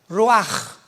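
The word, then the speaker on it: ruach: Apunta la palabra espíritu en el hebreo es como suena roach. Raúl u a c h. Pero la ch en el hebreo se pronuncia como j. Roaj.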